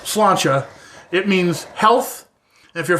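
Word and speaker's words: sláinte: it okay so the irish cheers in is pronounced slancha it means health if you're feeling brave how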